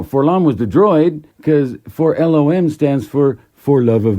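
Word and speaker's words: 4-LOM: entertaining and fun so really it should be pronounced for LOM not for long all right kind of like C3PO you know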